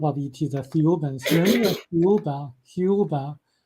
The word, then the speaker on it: Thiaouba: So what Michel was told that this group of ETs, the Thiaoubans, remember Thiaouba is pronounced very similar to Jehovah.